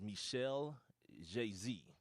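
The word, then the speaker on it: Michel Jazy: 1965 uh I'm gonna say his name is Michelle JayZ it's Mi c h e l j a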